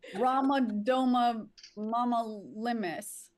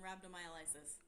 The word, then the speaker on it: rhabdomyolysis: If I miss you, it's in Anis Secoria, Colodocalictus, and Ramadoma Mama Limis. The actual pronunciations, Abby. Anisocoria, choledocholithiasis, and rhabdomyolysis. Nailed it.